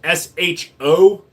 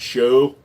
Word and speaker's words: SHO: Uh, the Taurus SHO because it stands for super high output, not show.